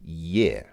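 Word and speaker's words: Е: That's the Russian E, which looks the same as our E, but it makes a different sound. This letter in Russian makes a sound like yeah. That's right. It's like there is an invisible. It's almost like there's an invisible Y before the E. It's not e but yeah.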